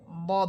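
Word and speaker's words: ضاد: মোটা পড়তেছে এর মধ্যে সবচেয়ে বেশি মোটা হবে দদ হরফ।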